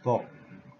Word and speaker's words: 복: The South Korean pronunciation of this character is Bok.